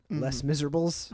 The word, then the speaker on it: Les Misérables: which I think is actually pronounced Les Miserables.